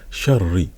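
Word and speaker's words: شَرِّ: Et là, on dit sharri. Donc on entend qu'il y a un dédoublement en fait de la lettre ra.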